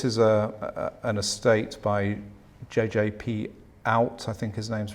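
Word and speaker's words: Oud: This is an estate by JJP Out, I think his name's pronounced, who was a Dutch architect and an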